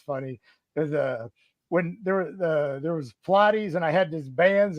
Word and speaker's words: Pilates: And you said, it's not Pilates, it's Pilates.